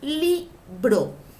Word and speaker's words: libro: Li, sílaba tónica, porque lleva el acento. Y bro, sílaba átona.